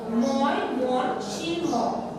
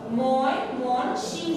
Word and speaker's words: ময়মনসিংহ: যেমন এখানে লেখা আছে ময়মনসিংহ, আমরা অনেকেই কি বলি, ময়মনসিংহ বলি না, ওটা কিন্তু বলা যাবে না। উচ্চারণ যদি সঠিক করে বলো তাহলে বানানটাও সঠিক হবে। দেখো ময়মনসিংহ, ময়মনসিংহ, এটা খুব সুন্দর করে খেয়াল করবে।